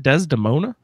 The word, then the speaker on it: Desdemona: Is that how you pronounce her name? Is it Desdemona?